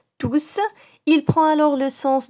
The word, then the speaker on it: tous: tous avec un s lorsqu'il est suivie d'un pluriel et on ne prononce pas le s voici des exemples il faut ranger tous les jouets tous les